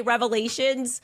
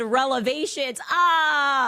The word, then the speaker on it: revelations: And look, she meant to say revelations, but she said relevations.